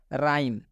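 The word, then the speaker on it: rhyme: राइम में आप देख सकते हैं आर एच साथ में आया है और बताया गया कि जब भी आर एच साथ में आए तो आर एच का उच्चारण र से किया जाएगा। और यहाँ पे देख सकते हैं आर एच को र से उच्चारण किया गया है राइम।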